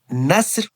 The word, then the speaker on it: نسر: And the Nasr with Seen pronounced lightly, meaning vulture.